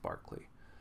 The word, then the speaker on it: Berkeley: guy named George Barkley spelled like Berkeley but pronounced Barkley and I'll definitely do